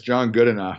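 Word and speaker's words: Goodenough: a picture of you with john is it john gooda now or john good enough how do you pronounce his name yeah it's john good enough okay so he is a research a battery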